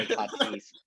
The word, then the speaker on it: Tatis: Padres, Tatis, the star Tatis, Fernando Tatis, as his actual name is pronounced.